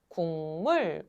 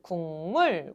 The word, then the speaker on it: 국물: 기역이 결과적으로 뭐로 바뀌었어? 이응으로 바뀌었지.